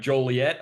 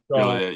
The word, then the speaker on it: Joliet: You're an Illinois guy from, let me get this right, Joliet, I believe it's pronounced. Joliet, yep.